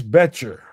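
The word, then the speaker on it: Boettcher: This is linebacker Bryce Betcher. The O is silent.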